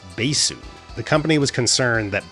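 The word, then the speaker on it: バース: line, had the name changed to this symbol, pronounced Basu.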